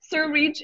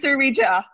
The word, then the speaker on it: Surrija: Surrija is Surrija. It's Surrija. See, I said it right. It's Surrija. Oh, Surrija. Surrija. Surrija. Surrija. Drag the A at the end.